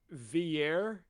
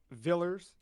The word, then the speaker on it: Villiers: You have Snow, is it Villiers? Is that how I'm meant to pronounce it? Yeah, I would say that. Villers.